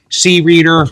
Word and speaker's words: Creader: I've been calling it the C-Reader because Creader to me sounds like a guy with long black hair, a white tank top, with arms wide open.